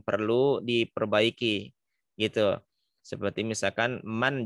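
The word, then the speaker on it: من: Seperti misalkan man jangan dibaca mang, jangan dibaca ikhfa ya, dibacanya izhar halqi man khaffat.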